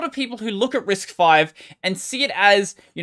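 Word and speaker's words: RISC-V: is the name is risk v but it's pronounced as risk five because the v is roman numerals for five i don't actually care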